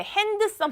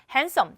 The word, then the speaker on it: handsome: 자, 우리 hand이라고 했을 때 핸드섬 아니죠? 자, 손 그리고 뭐 이런 그게 아니잖아요. handsome d는 발음이 나지 않는 무음철이 되죠. handsome 잘생긴 단어고요.